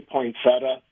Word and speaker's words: poinsettia: I say poinsettia a lot of times, poinsettias.